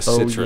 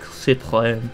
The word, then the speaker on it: Citroën: Like the E doesn't exist? Yeah. Well, I think it's supposed to be pronounced like Citroën. Oh, Citroën? It's French.